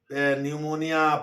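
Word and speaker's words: pneumonia: और पीवी का मतलब न्यूमोनिया पी से शुरू होता हैय पी साइलेंट होता है पी एनई यू एम ओ एन आई ए न्यूमोनिया तो इम्यूनो वायरस इसी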